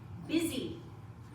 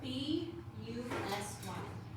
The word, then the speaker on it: busy: B U S Y. The U in this word makes an I sound.